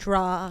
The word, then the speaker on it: Alejandra: Alejandra. Alejandra.